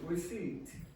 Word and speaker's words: receipt: Receipt. Receipt. Yeah. The P is not pronounced.